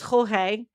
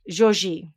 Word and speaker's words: Jorge: whose real name is i looked up how to pronounce what i thought was jorge in portuguese and it's actually like joji so not not spanish portuguese like this will make